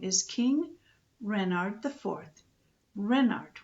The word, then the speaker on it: Renard: is king renard iv renard with the accent on the ren what's a ran ass